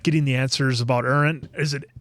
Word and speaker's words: Eren: I know somebody in the comments corrected me about that, so it must be Eren, I'm thinking. Eren. Eren. Okay. Aaron. I'm not the best at my Eren.